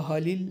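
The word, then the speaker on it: Halil: و مدت فکر کرد اینجا راجع به اسم حالیل این رو بدونید که در واقع این همون اسم خلیل هست چون توی ترکی خ به صورت ه تلفظ میشه اون خلیل هم به صورت حالیل دراومده تمام آما بوگس میگه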